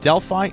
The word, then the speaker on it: Delphi: know because I I've heard from a lot of people that it's that it's dely a lot of people it's from Deli and there's an ancient Green City exactly Deli would be the proper pronunciation if we're talking about the Greek pronunciation I believe right so I'm I would be inclined to call him deli dely to me sounds like a bad American mispronunciation of it frankly so let's go with